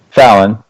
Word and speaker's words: Fallon: Her name's pronounced Fallon, but the website is Fallen Kitty IE.